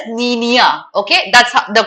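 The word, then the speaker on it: La Niña: Okay, इसको La Nina, La Nina, but it's a Spanish word, so we pronounce it as Niña.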